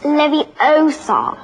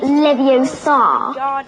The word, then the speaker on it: Leviosa: someone's eye out besides you're saying it wrong it's Leviosa not levos you do it then